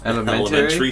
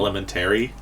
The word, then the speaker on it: elementary: school it's a little elementary school don't you Elementary yeah we pronounced it and lemon Terry where I'm from and that's not right oh it's Elementary gift